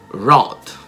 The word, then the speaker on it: wrote: Quindi anche il passato di write, wrote, il W è muto.